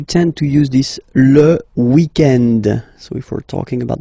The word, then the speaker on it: weekend: Normally, in France, we tend to use this le weekend. So if we're talking about the weekend, okay, but then pronounce it the French way, weekend.